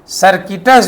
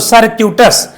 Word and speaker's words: circuitous: सर्किटस जो है जब हम पढ़ रहे थे तो वो गलत है। सही क्या होगा, तो सर्क्यूटस, इसका मतलब होता है